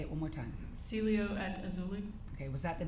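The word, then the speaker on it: Cielo Azul: again Celio aul say it one more time Celio at auli okay was that the name of of the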